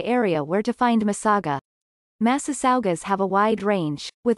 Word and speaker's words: Massasauga: where to find misaga massasaugas have a wide range with varying habitats the animal's name comes from a chippewa word translated as great river mouth with the pronunciation of massive saga distribution ranges from the